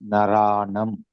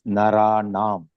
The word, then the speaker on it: नराणाम्: Some people pronounced as Naranam. It is Naranam. Please note it.